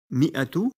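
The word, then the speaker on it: مائة: Avant de passer au nombre 1000, notons que la lettre alif présente dans le nombre mi'atu ne se prononce pas et qu'il est tout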